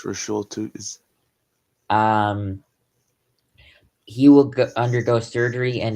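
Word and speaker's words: Bhayshul Tuten: I'm pretty sure I also butchered that. No, you got that one. It's Bushul Tootin.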